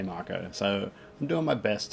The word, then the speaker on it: Mako: Like every Australian that I know that ever played this game, we always pronounce it Mako. Mako Shark, Mako Energy, Mako Reactor. But I've seen the Final Fantasy VII demo, a remake demo, and they clearly say Marco.